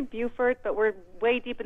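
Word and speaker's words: Beaufort: go to Maggie in bord South Carolina hi Maggie hi thank you so much for having me it's actually Buford but we're way deep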